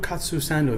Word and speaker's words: katsu sando: many people make that wagyu katsu sando that's how you say it right like you cut sand yes now we're going